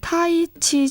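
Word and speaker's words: 太极: 그래서 이번에는 타이치 정보를 준비했어요. 태국권 아시죠? 알죠. 네, 중국에서는 태극을 타이치라고 읽는데요.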